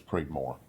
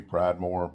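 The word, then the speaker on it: Pridmore: P R I D M O R E. So believe it's Preedmore and uh could be Pridemore, but I don't see the E in it.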